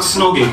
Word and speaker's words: snogging: the French kiss and give it a verb that rhymes with bog and frog um so they were talking about Snogging and as I was